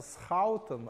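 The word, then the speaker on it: Schouten: Эти люди, это оба голландские имена. Первое читается Схаутен, а второе читается Найнхаус. Вот, но это довольно... Ну, по-русски говорят скобка Схоутена, вот это здесь, а здесь скобка Герценхайзера.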